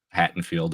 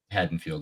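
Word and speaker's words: Haddonfield: still would be no Hatten field or haddenfield right haddenfield yeah I always get the t's and the D's I can remember it's barely pronounced listen our state actually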